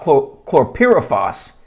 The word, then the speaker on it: chlorpyrifos: toxin and so in this article it's about chlorpyrifos that's how you pronounce it and so some of these uh